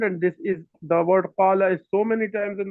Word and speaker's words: قال: But some people most of the people from Egypt, from Misr, what they say? They would say gol, gol, not Yes. qal, gol. And the people from Iran will say gol, with pronouncing a ghain instead of a qaf.